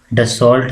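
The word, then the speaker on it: Dassault: डसॉल्ट हम लिखते हैं, प्रोनाउंसिएशन इज डसॉल, DSSAULT, ठीक है, डसॉल। कौन सी कंट्री?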